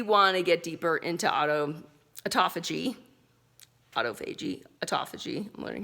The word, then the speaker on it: autophagy: Like that's how you, if you really want to get deeper into autophagy, I'm learning how to say it the right way.